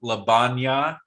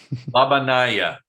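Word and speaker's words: La Bagnaia: So you'll play at Royal Golf Labanya. I'm pronouncing it wrong. Labanaya. There it is.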